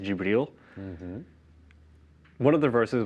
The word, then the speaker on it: Jibril: So when he received his revelation from the angel Gabriel, also a character in the Bible, in Arabic it would be pronounced Jibril.